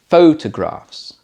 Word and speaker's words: photographs: For example, I like to take photographs. Photographs. First syllable stress for the noun.